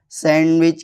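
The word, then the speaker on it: sandwich: कुछ वर्ड जहाँ D silent होता है, जैसे वेनसडे, हैंडसम, सैंडविच।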